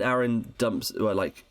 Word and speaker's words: Aaron: It is Aaron because it rhymes with Karen, and I think that in the stage musical they do like a joke about that.